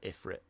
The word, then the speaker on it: Ifrit: and eph stronger and although I'd like to call it Ifrit because that's how I'd read it um they do pronounce it iFruit in this they shouldn't be here